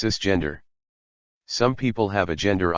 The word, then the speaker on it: cisgender: they were assigned at Birth is cisgender pronounced cisgender some people have a